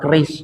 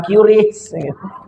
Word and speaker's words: QRIS: Lah bacanya keris itu kata BI Bank Indonesia. Bacanya keris bukan QRIS.